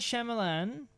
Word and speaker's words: Shyamalan: oh you leave I'll leave now I'm not Shyamalan hey that's how you pronounce it was offered to direct Harry Potter